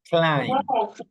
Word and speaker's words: climb: this group of words where you don't pronounce B. You don't pronounce the letter B. Okay. Okay. Dum. Okay. Remember that in this one you say climb.